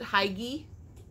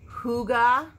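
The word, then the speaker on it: Hygge: I would pronounce it Hygie, but it has a pronunciation underneath it of Huga.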